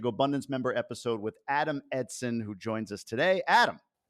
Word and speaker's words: Eidson: sort of we talk about your name right Edson even though it's pronounced it's spelled e-i-d like eidson I think